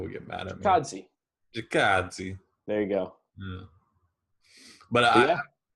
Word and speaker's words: Chikadze: Why don't you pronounce it? Giga Chikadze, come on. Giga. It's kind of Italian sounding, right? Nah, Chikadze.